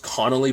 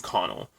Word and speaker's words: Connell: I was I think in my head I always say her name is Ruth Connolly but it's Ruth Connell I always put Connell in her name but regardless I was